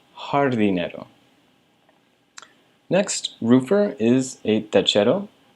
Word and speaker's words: jardinero: Anytime you see the letter J in Spanish, you're going to pronounce it like an H. So that's why it's pronounced paisajero and jardinero.